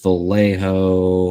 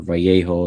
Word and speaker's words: Vallejo: This is Vallejo, or Vallejo, if you pronounce it correctly.